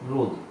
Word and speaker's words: ρ: রোধ। এল কি? দৈর্ঘ্য। এ কি? প্রস্থচ্ছেদ। রো কি? এটাই কি বলছি? রো দ্বারা বলছি। রো কি উচ্চারণ হবে? রো। হয়েছে?